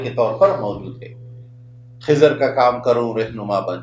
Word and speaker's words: خضر: موسیٰ علیہ السلام اور خضر علیہ السلام۔ اور موسیٰ علیہ السلام کے ساتھ ہمیں یہ لفظ خضر کے تلفظ کو درست رکھنا چاہیے، خا کا زبر اور ذات کا زیر، خضر۔ ہمارے ہاں خضر کا